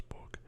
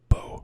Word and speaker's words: Beau: a sort of way to say beautiful I believe is Bo which is b e a u see beautiful is spelled b-e-a-u 38 fuel so I'm